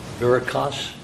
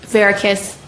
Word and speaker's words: Verikas: Verikas, correct? Verikas. Verikas? Verikas. Verikas, pardon me. If I mispronounced that, it's not intentional.